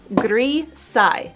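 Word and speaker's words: gris: leaves until we're happy with it three side gai so it rhymes with like versailes the palace um but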